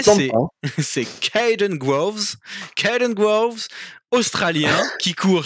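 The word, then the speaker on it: Kaden Groves: Alors, attention à la prononciation, ça va être fantastique. Le Ça premier, tente pas, c'est hein. c'est Caden Groves.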